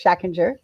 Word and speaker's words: Schachinger: You actually pronounce it, as the Germans tell me, I pronounce my name wrong. So in American, it's Schachinger. But you were closer to the correct pronunciation if you're in Europe. It gets to the Deutsche Schule, Córdoba, 3 Jahre.